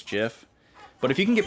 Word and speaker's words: GIF: Only thing wrong with her really is that she pronounces GIF with a J sound. She says GIF.